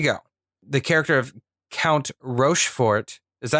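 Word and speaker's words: Rochefort: The character of Count Rofort. Is that how you pronounce it? I think it was like Rushfor. Like they didn't pronounce a T at the end.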